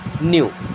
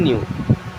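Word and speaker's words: knew: यानी कि past form न्यू यहां पे भी के साइलेंट होता है इसे पढ़ते हैं न्यू आई न्यू मीस मैं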